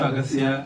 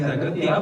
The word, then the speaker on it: Aghathiyaa: And some places the heroine calls you Aghathiyaa, and some places they say as Aghathiyaa.